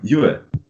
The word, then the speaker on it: you're: You're, right? In British English, at least, you're not going to pronounce the R. So you're going to, let's say, replace it with a schwa, with this very relaxed sound.